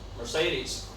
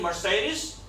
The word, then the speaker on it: Mercedes: Mercedes. That's not Mercedes. Mercedes, Mercedes. Everybody, come on. I'm writing over here pronunciation, okay? Not spelling of Mercedes, right? Mar, and then say Mercedes.